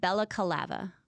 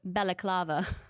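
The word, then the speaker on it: balaclava: But you said it wrong. What? You said Bellacava. What is it? Bellaclava.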